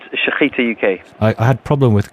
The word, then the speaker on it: Shechita: Sorry, how do I pronounce this, Mark? It's Shechita UK.